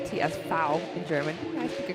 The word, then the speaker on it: TSV: you're wondering what tsv stands for it's actually pronounced TS fou in German I speak a couple words here